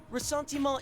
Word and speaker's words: Ressentiment: Ressentiment is French. Ma is pronounced completely different from the man in Featherman.